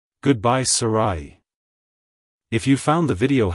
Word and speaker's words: Sarahi: second syllable ra and use a soft H sound at the end avoid pronouncing it as Sarah with an e at the end like hello Sarai goodbye Sarai if you found the